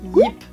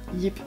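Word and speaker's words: Jip: dire plusieurs fois, c'est Yip. Donc ça s'écrit avec un J, prononcé à la hollandaise, donc Ye, IP, Yip.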